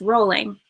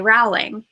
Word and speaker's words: Rowling: know with JK rolling it's it's rolling a lot of people say rling and even on Jeopardy she was an answer and the guy said JK rolling and he got it wrong because he pronounced it wrong and they're like JK